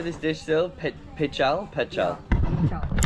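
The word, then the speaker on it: Pical: Pichal. Pichal.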